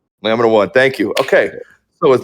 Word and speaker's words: LAMINA1: Is it Laminer or let me am I saying it wrong? Am I butchering it? I asked her about Lamina one.